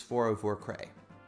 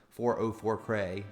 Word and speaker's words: 404Cray: And aside from his tag being hard to pronounce quickly, 404 Cray is usually how I pronounce it announce it enunciate it.